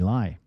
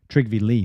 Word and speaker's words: Lie: A typical example was the Norwegian Trygve Lie, Lee, sorry. His last name is pronounced Lee, even though it's spelled lie.